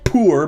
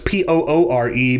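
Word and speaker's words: Poore: brandon poor is a i say poor because it's p-o-o-r-e but it very well could be pronounced poor i'll ask his forgiveness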